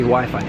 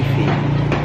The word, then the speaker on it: Wi-Fi: a meal or whatever I'm hearing a lot of other tourists saying we we wey but the pronunciation in English and certainly British English WiFi Wi-Fi so do you have Wi-Fi have you got Wi-Fi that's what you'd ask the the waiter or waitress so the pronunciation not Wei Wi-Fi eastly Jers